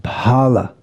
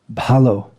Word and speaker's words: bhalo: In Hindi, it be pronounced bhala, or just bhal, but it's bhalo.